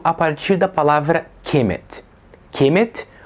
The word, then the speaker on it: Kemet: Kemet, ou na pronúncia reconstruída do egípcio antigo, Kumat, era o nome dado pelos próprios egípcios à sua terra.